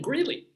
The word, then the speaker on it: Greeley: A lot of things might rhyme, well, even Greeley rhymes with really and Sealy, Posturepedic, or whatever.